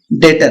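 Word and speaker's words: debtor: है और उसके बाद सेंडी डेटर है ठीक है बी साइलेंट रहेगा ठीक है चलिए सेंटी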